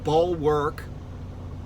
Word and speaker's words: bulwark: he wrote a book called ball work which is spelled like bulk work bulwark of freedom um by